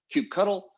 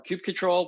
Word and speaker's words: kubectl: So we have a plugin for kubectl or kubectl, depends on how you pronounce that, but the CLI for Kubernetes, we have a plugin for that.